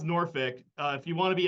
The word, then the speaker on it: Norfolk: Yeah, it's pronounced Norfolk. If you want to be a heel, pronounce it Norfolk, though.